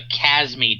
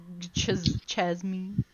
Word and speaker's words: Chasme: The E is silent. Plotting. Fun fact. And it's pronounced cha instead of ka.